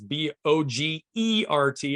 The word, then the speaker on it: Bogert: Again, it's Bogert. It's Bogert like yogurt, even though it's spelled with an E, not a U.